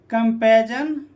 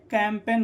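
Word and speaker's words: campaign: ठीक है, resign, sign, कंपेजन, कैम्प, यहाँ पर क्या? COM, कैम, पे ना, कैंपेन। ठीक है, कैंपेजन नहीं होता, ये कैंपेन होता है।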